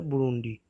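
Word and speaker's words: Burundi: So last one ऑफ the today's video is बुरुंडी। सो ये आज का लास्ट होगा। सो इसे प्रोनाउंस किया जाता है बुरुंडी।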